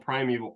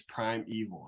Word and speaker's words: Primal: yeah I don't but the way it's spelled is Primal yeah but it's pronoun we asked them how do you pronounce your brewery's name it's Prime Evil I'm like well I